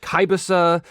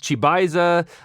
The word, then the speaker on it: Chybisa: lot of people i' I've heard this pronounced Kisa I've heard it pronounced chisa whatever to me in my personal heart it was uh chisa so that's that is how I shall re refer to it so when Columbia games